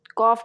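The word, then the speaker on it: calf: बछड़े को इंग्लिश में कॉफ कहते हैं एल जो है य साइलेंट हो जाएगा ऊंट ऊंट को इंग्लिश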